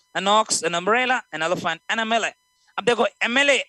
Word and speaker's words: MLA: अब देखो MLA, M is a consonant but gives the sound of M, AM.